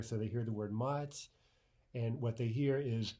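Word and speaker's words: мать: The first let's look at an example of a soft sign, the word mать, mать, right? Not mat, mat, but mать.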